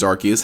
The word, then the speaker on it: Arceus: release of pokemon legends arceus has given us the most recent clarification of pronunciation it's pronounced arceus with a hard c the reason you might